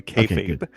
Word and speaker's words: kayfabe: No, you said you did say it right, by the way, kayfabe.